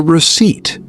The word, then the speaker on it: receipt: Yes, that small paper is called the receipt. The receipt. R E C E I P T. The P is silent.